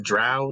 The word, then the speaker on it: drow: Oh god, if the drove come back. What? I mean, drow, not dro.